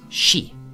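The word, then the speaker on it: 四: around the number four which is pronounced she in Japanese synonymous with death hence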